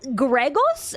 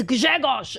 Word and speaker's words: Grzegorz: name is Yapko Grzegorz and everyone's like, Gregos? How do you say that name? And I'm like, oh, you idiot, it's Grzegorz.